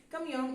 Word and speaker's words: camión: sería la palabra cambio camión es una palabra aguda que debe ser aceptada cuando no la aceptamos